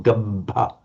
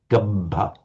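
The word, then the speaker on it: gabbha: Right, you were tending to make a couple of vowels a little bit longer than they should have been. For example, gabba. It's a heavy syllable because it's got a doubled consonant. So it's a short vowel, but the length, the additional length is given by the holding of that consonant.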